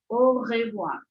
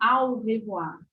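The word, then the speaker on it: au revoir: que a pronunciação correta o sonzinho de a e u no francês é o então é o revoar o revoar não ao revoar ou ao revoir de jeito nenhum o revoar o revoar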